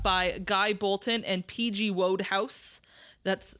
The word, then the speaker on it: Wodehouse: Wodehouse. That's how it's spelled. I'm not saying Roadhouse.